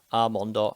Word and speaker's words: almond: Almond. I mean, this is just kind of an interesting one because it's kind of, you've got a silent L really in the word.